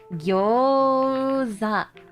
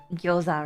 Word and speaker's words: gyoza: What about the word What about the word yoza? It's actually gyoza, right? But you would pronounce it or it's spelled like that like internationally. But the pronunciation is gyoza.